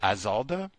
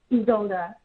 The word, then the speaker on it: Isolda: one uh is it Aalda? Can I say it? Is that correct? Aalda. You you can you can you can call me. Okay. How do you pronounce it correctly? Your name though? Isalda.